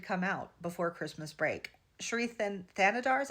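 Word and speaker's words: Shri Thanedar: Sherethan Thanodar is how you say his name.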